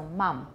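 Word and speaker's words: Mum: Mom. Yeah, M-U-M, but U in British English is pronounced more ah, so Mom.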